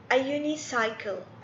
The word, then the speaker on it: unicycle: طيب unicycle، unicycle ليش؟ لأن اليو الصوت حقه يو ما هو أ.